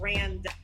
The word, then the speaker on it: Randa: It's spelled Randa. So rhymes with panda.